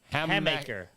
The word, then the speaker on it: Hammaker: Hammaker.